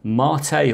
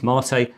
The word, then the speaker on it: MATE: two possible desktops available, KDE and Mate, or Mate, depending on how you want to pronounce it. I think officially it is Mate, and that's the one I've installed here.